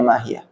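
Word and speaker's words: مَا هِيَهْ: Waha uhiyah, haknya lafadz hiyah, mahiyah, tasbutu waslan wa waqfan, itu tetap ada mahiyah, bacanya mahiyah. Wa fi qiraatin, dalam sebagian qiraah, tuhdhaf waslan, kalau wasol, kalau nyambung itu dibuang, mahiyah.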